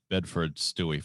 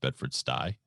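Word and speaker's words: Bedford-Stuy: bedford stewie it's pronounced bedford sty and so let's see if the spelling helps because sty is actually a word i do believe as in pigsty seems to be taking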